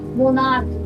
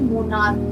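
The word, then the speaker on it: monarch: की दिख रही है लेकिन नो नो नो नो हमें यहां मोना नहीं बल्कि मोनार्क पढ़ना है क्या पढ़ना है मोनार्क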